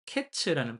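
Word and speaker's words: קץ: 그리고 끝이라는 것도 히브리어로는 캐츠라는 발음을 가지고 있는데요. 이게 어 발음이 카이츠 캐츠가 좀 유사합니다.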